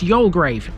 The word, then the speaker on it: Youlgreave: This one is the largest of the bunch and its name is Yolgrave and yes, that is how you pronounce it.